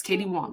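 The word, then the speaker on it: Katie Wang: Katie Wong. It's spelled like Wang, but it's Wong.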